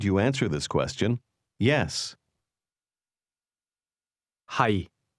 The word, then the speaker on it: 係: 係。 Notice the low, level tone in the word am or to be.